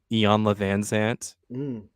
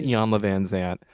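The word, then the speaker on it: Iyanla Vanzant: self-help books so um Ian lavanant is that that's how you say it right Yan I believe it's Yan VanZant um got she had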